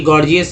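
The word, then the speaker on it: gorgeous: ये देखिए गॉर्जियस एक वर्ड होता है, गॉर्जियस लिखेंगे, गॉर्जियस G O R G E O U S। गॉर्जियस में पहला जी ग, दूसरा जी ज के रूप में उच्चारण किया गया।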